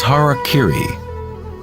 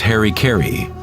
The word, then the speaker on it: harakiri: In the samurai tradition, one form of ritual suicide, or seppuku, was harakiri, was often mispronounced as harikiri.